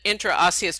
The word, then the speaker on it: interosseous: ulna and it's an intra intra us it's a membrane interosseous membrane sorry I I was trying to put an extra syllable in there into interosseous membrane it's a the